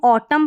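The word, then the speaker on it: autumn: तो हम ऑटम पढ़ रहे हैं इसको, ओ ट म, और ये जो एन है ये साइलेंट है, ठीक है, इस तरीके से आपको याद रखना है।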